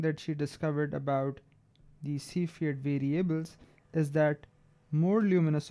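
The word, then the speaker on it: Cepheid: are one of these standard candles are called C field variables that's how you pronounce it C Fiat so the special things about these stars are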